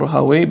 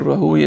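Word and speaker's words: Rahuyah: So it's from his shuyukh, Ishaq ibn Rahuya, or Rahaway, but Rahuya is a correct pronunciation.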